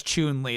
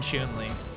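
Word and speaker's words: Chun-Li: My chat wouldn't say Kyle, it's Chun Lee. They wouldn't do it. They My chat wouldn't. How do you say Ken? I'm hurt. I'm hurt. It's never been chunling.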